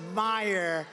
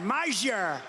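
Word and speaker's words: Meijer: A guy who spells his name M-E-I-J-E-R, but they pronounce it Meyer. The hell kind of a spelling is that? Meyer. Meisher.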